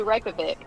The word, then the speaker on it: Reykjavik: This isn't fair because Southerners, we always add syllables to everything. Yes, we do. I say Reykjavik.